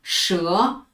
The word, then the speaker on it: 舌: 就是这个字，它读作诗鹅舌，诗鹅舌，舌头的舌，口舌的舌，舌字下